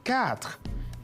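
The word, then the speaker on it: quatre: cuatro en francés en francés cuatro se dice cat y se escribe cu r ahora pasamos a la actividad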